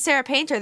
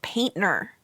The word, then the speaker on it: Painter: yes most people I say my name is Sarah painter they say Sarah painter do you paint I